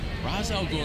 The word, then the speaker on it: Ra's al Ghul: Ra's al Ghul, and you pronounce it correctly.